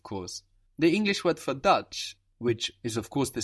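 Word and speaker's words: Deutsch: D EU T C so EU in German gives us oi it gives us this oi sound if you hear people talking about the uro they would talk about the oo in German oo EU gives us oi and this TS c h all together just gives us chch dut which interestingly sounds a lot like the word dutch in English know and there is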